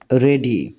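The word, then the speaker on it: wrong: বলছো এখানে দেখো রং এই শব্দটার ডব্লিউ এই লেটার উচ্চারণ হচ্ছে না তাই এই লেটারটাকে আমরা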